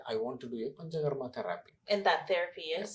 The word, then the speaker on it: Panchakarma: How do you pronounce it? Is it Panjar? Pancha. Pancha means 5. Pancha in Sanskrit, Pancha means 5. Karma means actions. Panchakarma therapy.